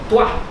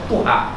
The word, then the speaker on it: Tuha: Dia membaca ejaan ta wau ha sebagai tuha. Betul bacaan. Dia tak kata tuah. Dia kata tuha.